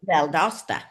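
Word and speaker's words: Valdosta: Augusta, Georgia, she had a private practice in Valdasta, Georgia. Did I pronounce that right? Valdasta.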